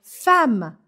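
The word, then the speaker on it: femme: terceira deveria ser ela fama fama se escreve Fema mas a gente fala fama por causa dos dois MS esses dois MS fazem com que o a Abra o som anterior e Fama significa ao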